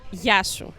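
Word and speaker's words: Γειά σου: Yashu or simply ya.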